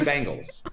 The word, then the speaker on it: Bengals: What is wrong with Bengals? All right, how do you say it? Bengals. Bengals. I say Bengals, you say bangles.